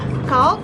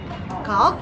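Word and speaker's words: calque: their procedures and number two is okay it is spelled c-a-l-q-u-e cal is a special kind of borrowing whereby a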